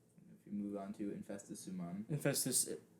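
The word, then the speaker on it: Infestissumam: Yeah, Infestus Sumam. That's how it's pronounced.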